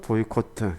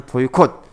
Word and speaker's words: 보이콧: 마무리 지어야 되죠 그래서 보이 코트 보다는 보이콧 짧게 발음하고 짧게 끝내는 게 에 보이콧 게 좋습니다 보이콧을 너무 길어지면 예